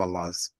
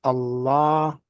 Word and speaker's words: Allah: when you say Allah that open a that's in Al so that's one of the ways that the word Allah is being pronounced in the world is just that the Arabs were pronouncing it as Allah with a double beat as they call it in that last vowel or that second vow Allah see Allah and